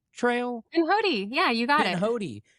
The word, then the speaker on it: Pinhoti: How do you pronounce the Pinhoti Trail? Pinhoti, yeah, you got it.